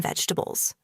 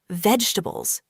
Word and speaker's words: vegetables: A lot of people say it like this, vegetables, slowly and with every syllable. But in natural English, we often say it faster and smoother. Vegetables. Only three sounds.